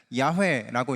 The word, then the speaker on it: 야훼: 우리는 성경에 여호와라고 번역되어 있기 때문에 여호와라고 읽지만 원래 발음대로 가면은 야훼라고 읽는 것이 정확합니다. 그래서 모두 야자로 끝나고 있는 것인데요, 이들 이름에는 각각의 의미가 있습니다.